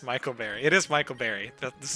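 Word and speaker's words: Micle Berry: It's clearly pronounced Michael Berry.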